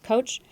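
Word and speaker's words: Koch: Kelly as Kelly said my name is coach last name is spelled k och direktor Johnson County Public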